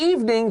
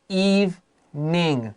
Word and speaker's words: evening: sometimes says words like words that have two pronunciations i say it one way and anthony naturally says it another like i just said the word eve ning two syllables evening but